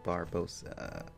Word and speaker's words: Barbossa: weird name now pronounce I know a lot of people actually mispronounced that name I think I did a couple of times back then to the guys still do a little bit but yeah Captain Barbossa okay also another thing